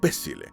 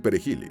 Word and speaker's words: perejil: El creole no contempla la pronunciación suave de la letra R, y los haitianos terminaban diciendo pésil o algo parecido. Los dominicanos no tenían problemas para decir perejil y salvar la vida.